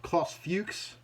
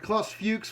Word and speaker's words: Klaus Fuchs: that was a fellow by the name of Klaus Fuchs. I have to be very careful to pronounce that name properly. It's a terrifying one to say at all ages thing. But Klaus Fuchs was another one of these scientists who was